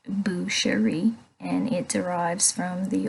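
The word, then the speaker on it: boucherie: Butcher and make food from a pig it's pronounced bueri and it derives from the old French language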